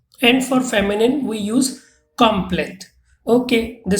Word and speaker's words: complète: Like in this case, for masculine, we use complet, T is not pronounced, and for feminine, we use complete.